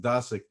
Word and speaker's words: Dosick: me by the way my last name is pronounced dasic but you can imagine